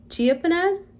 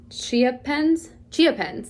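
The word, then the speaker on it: chiapense: Okay, this is Syngonium, and I'm gonna say it wrong, Chiapenez. Here, let me, Chiapens, there we go.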